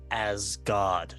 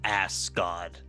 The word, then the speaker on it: Asgard: birds they also fly it's pronounced as God not ask God well maybe you should